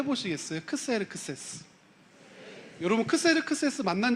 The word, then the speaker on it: 크세르크세스: 에스더를 후궁으로 맞았던 왕이잖아요 근데 세계사적으로 역사 안에선 아수라 발음하지 않고 크세르크세스 1세라고 발음합니다 한번 해 보시겠어요 크세르크세스 여러분 크세르크세스 만난 적